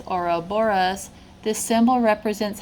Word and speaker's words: Ouroboros: I mean they look like they're chasing their own tail so back to the oroborus this little article right it said pronounced as oroboros this symbol represents how